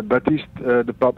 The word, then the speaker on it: Baptist de Pape: with pronouncing my name it's uh batiste the pop it's a french name okay although i'm dutch